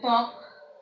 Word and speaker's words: ত্বক: অনুরূপ ভাবে দেখো যে ত্বক, আমরা এই বটা উচ্চারণ করি না।